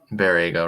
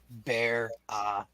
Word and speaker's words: Baraga: And did you pronounce Barrega wrong again, Ryan? Because people in chat are saying it. You're muted, but Baraga. That's what I said. Baraga. someone says Barraga.